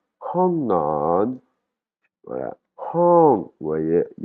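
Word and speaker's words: ห้องนอน: le mot "chambre à coucher", ça va se prononcer "hong non" "hong non" Voilà.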